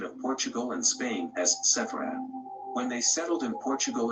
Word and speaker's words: Sepharad: Sephardim, as mentioned earlier, is pronounced in the plural in Hebrew, while in the singular it is Sepharad.